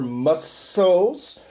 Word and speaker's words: muscle: Nós simplesmente necessitamos treinar our muscles. Olha a pronúncia da palavra músculo. É muscle. Muscle, né?